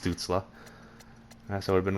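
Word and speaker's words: Stützle: back I left to make sure those names pronounced stutzla that's what I've been wrong where's this dude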